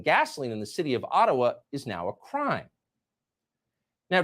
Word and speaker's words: Ottawa: to let the mayor of ottawa or atawa as it's correctly pronounced ojibwa explain why peaceful truck